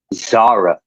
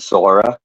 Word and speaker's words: Zara: and her name is pronounced Zara, right? Not Zora, Zara.